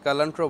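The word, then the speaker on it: culantro: আর পাশে দেখতে পাচ্ছেন যেটা, সেটাকে বিলাতি ধনিয়া বা কালান্ট্রো বলা হয়, বা কুলান্ট্রো অনেকে উচ্চারণ করে।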